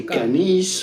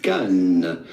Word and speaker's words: Cannes: Well, first you have to know that the S Pehle at the end of pronunciation. Cannes is definitely silent. So do not say Canis or Cannes, but rather simply Cannes.